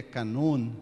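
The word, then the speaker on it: κανών: Eh, o termo grego canon, na verdade, na pronúncia grega e na acentuação grega é canon, né?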